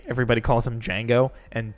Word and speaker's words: Django: A, everybody calls him Django, and B, there's the racist hillbilly gun toter that Yeah. calls him Django, and then Oh. he shoots him, and he's like, the D is silent, hillbilly, and then fucking kills him.